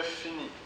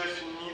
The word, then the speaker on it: finis: la dernière lettre donc on ne prononce pas la dernière lettre donc je finis sur fin qui est